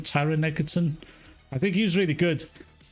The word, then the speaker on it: Taron Egerton: That's Taron Egerton. That's how you say his name, Taron Egerton.